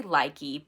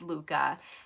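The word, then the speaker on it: Lykke: already have these Luca I say likey but the proper way to say it is Luca I already have two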